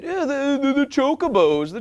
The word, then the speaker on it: Chocobos: Because the Chocobos, the world-famous big birds that you ride, were introduced in Final Fantasy II.